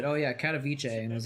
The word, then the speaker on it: Katowice: Dude, I just found out that it's pronounced Katowice. I thought it was like Katowice or something like that for a long time.